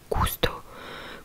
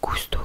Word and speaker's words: gusto: le U, après le G, ça se prononce que, du coup, comme le mot gusto, gusto qui veut dire goûter.